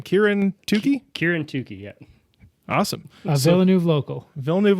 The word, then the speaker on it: Kieran Tookey: Kieran Tookey, yeah.